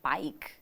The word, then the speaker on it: BAIC: plans for the sa Market am I even pronouncing it right it bike bike bike okay all right well let's talk